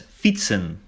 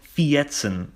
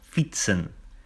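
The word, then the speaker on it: fietsen: Pronounced as fitsen, not fieten or something like that. No, fitsen.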